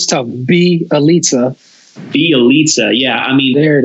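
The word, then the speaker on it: Bjelica: Belitza.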